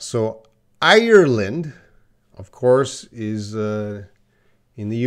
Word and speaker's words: Ireland: Can you hear the difference? Ireland. Island.